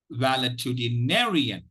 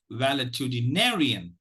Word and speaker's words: valetudinarian: which syllable is stressed it is valid to the narrian valid to denarian wellitudinarian okay so there are seven syllabus and if You observe the the the the Val to the Nay then the fifth syllable is the one that is uh that is stressed okay now let me